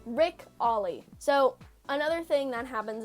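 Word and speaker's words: Ric Olié: His name is Rick Ole. How to pronounce? What? Oh, we'll say Ollie, like the skateboard trick. All right, Rick Ollie.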